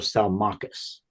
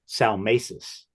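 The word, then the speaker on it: Salmacis: to correct my own it's the Fountain of salachas oh salus okay yeah for decades I've said Sal mesis because I'd never heard it pronounced I actually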